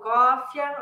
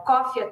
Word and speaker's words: Coffea: Para quem quiser ouvir meus podcasts, então é o Portal Cofia. Aqui, ó, se escreve COFFEA.